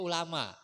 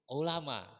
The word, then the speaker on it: ulama: Kalau ulama pakai ain itu orang-orang yang alim. Tapi kalau ulamanya pakai alif itu orang-orang yang sakit. Ya, jadi jangan salah mengucapin ya, jangan salah pengucapan. Jangan ulama, tapi ulama, ain ya.